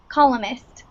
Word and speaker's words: columnist: everyone read some um columnist uh the n is silent columnist good all right um